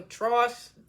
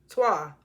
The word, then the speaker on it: Trois: Candy was like, you ain't even know, like, it wasn't for Tross, or how you pronounce that movie? I'm trying not to cough. How you pronounce that movie? Trois. Twa.